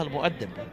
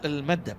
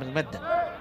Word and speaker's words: المؤدب: الحي، هو حاتم المدب تكتب الكل يقراها المؤدب بما أنها تكتب بالميم واو عليها همزة دال باء، لكن هي المدب التوانسة ينطقون حاتم المدب مدرب الفريق العرباوي في الموسم الحالي.